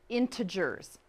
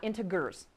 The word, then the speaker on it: integers: about what it means good integers nice soft G what I want you